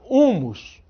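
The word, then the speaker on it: húmus: No entanto, olha lá, humus, a gente não pronuncia esse H, e ele está escrito.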